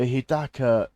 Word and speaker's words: Hidaka: Um, the Hidaka is so good.